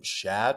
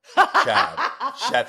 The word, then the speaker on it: Shad: Shad sounds like the French pronunciation of Chad. Shad.